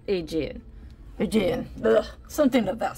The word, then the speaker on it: Aegean: Think of the Aegean Sea. That's how that's pronounced. Aegean.